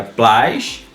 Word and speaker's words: plástico: Primeiro, a gente precisa separar silabicamente a palavra plástico. Então ficaria plástico. Ou seja, a sílaba tônica, ela tá aqui, ó. Ou seja, ela está na antepenúltima sílaba.